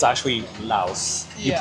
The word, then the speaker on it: Laos: but it's actually Laos. You Yeah. pronounce the S because that describes the country.